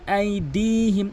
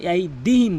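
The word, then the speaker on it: أَيْدِيهِمْ: ইয়ালামু মা বাইনা আইদিহিম, অধিকাংশ লোক কিন্তু আইদিহিম বলে, এখানে দাল টান রয়েছে, একালিফ টেনে পড়তে হবে।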